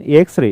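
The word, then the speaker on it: X-ray: लेकिन एक्सरे a sound दे रही है।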